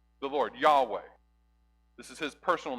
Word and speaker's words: Yahweh: of the Lord then my name the Lord Yahweh his way that's pronounced in Hebrew so he's he's saying I'm